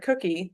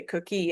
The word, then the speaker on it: cookie: and 4 here because we pronounce the word cookie like I just did with the emphasis on the first syllable. In order to emphasize the rhyme here, though, you would have to say cookie, and that's not how we say the word.